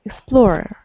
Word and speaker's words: explorer: What syllable is stressed, first or second? Oh, explorer. I don't know. Maybe second. The second. Explorer.